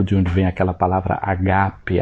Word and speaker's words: ágape: onde vem aquela palavra agape, ágape, como a gente costuma pronunciar em português, né?